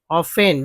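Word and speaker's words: often: If so, you are familiar with the irony of the situations, which is ऑफेन, जिसमें टी जो है silent है, T silent है, तो ऑफेन एम्बैरेसिंग द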